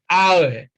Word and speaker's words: hour: It's not hour, it is hour. So H is silent.